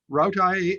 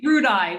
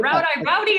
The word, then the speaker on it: RoutΣ.i: thank you very much rautai uh rowdy uh all of you we say rudai we say rude eye but rowdy is kind of nice too after after i